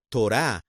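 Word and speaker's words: תורה: Ante todo, Torah, o como diríamos en hebreo, Torah. El hebreo entiende acentuar las palabras a la última sílaba, mientras que otros idiomas como el inglés la acentúan en la primera.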